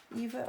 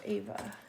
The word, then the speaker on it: Eva: I think I'm pronouncing her name wrong. Sorry. Eva or Ava? Eva.